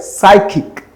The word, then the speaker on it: psychic: So we have a psychic. This one is a psychic. It's called that the pa sound is not articulated.